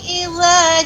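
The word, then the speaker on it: إذا: Wasyamsi waduhaha wal qamari idza talaha wan nahari idza jallaha. Coba ibu ucapkan idza. Idza tidak idza apa? Tidak idza tapi idza. Lebih dibuka idza.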